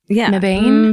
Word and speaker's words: Mebane: Hope I'm I hope I'm pronouncing that right. m e b a n e Mebane?